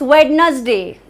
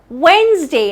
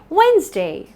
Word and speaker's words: Wednesday: guessed it right it's wetness day no that's not how it's pronounced it's Wednesday like you asked when's the day when's and day not wetness day it is not a trisyllabic word it's Wednesday Wednesday Nia is traveling